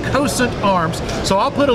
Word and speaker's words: Cosaint: com or as we say in the south coast saints coast saint arms but they've corrected me on that that it's pronounced constant arms so i'll put a link in the